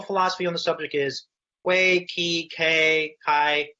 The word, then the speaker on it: Quay: terrific so first question the the obvious one way versus key what I what caused you to choose a